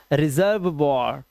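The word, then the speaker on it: reservoir: ठीक है, रेपर्ट वॉर, रेपर्ट वॉर और लास्ट का ही silent, रेपर्ट वॉर। This is रिजर्व वॉर, रिजर्व वॉर।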